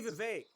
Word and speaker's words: Vivek: Hey Vivek, get fucked. It rhymes with K.